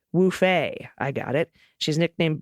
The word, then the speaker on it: Woofy: For my pet tax, and since you haven't had some What the Mutt lately, I present to you my Woofy, pronounced Woofay.